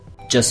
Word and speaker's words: just: going to be O'Brien just me just me as you see we don't we don't pronounce the T at the end of just doesn't have that plosion just me not just